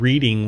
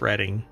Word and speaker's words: Reading: most definitely well because I said reading once and it's reading I also said Jorge